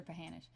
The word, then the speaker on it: Pahanish: Is it Pahanish or Pahanish?